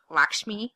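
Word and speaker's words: Lakshmi: fans so Padma Padma like lak me L me I I believe is how you pronounce her name from Top Chef she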